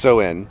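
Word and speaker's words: Samhain: know Irish invented everything sahin is pronounced soen and means end of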